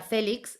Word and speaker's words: Félix: si estamos hablando del apellido félix que es terminado en x y que se pronuncia a félix por lo tanto una palabra llana terminada en x debería llevar tilde en la cual es